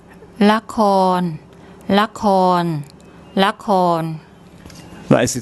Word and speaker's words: ละคร: Okay, here we have the lorling, the L consonant, then a short A vowel, then a korkwai K consonant, and rua, no vowel. ละคร ละคร ละคร That is the Thai word for drama.